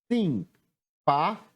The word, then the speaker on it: simpático: A sílaba tônica é o pá.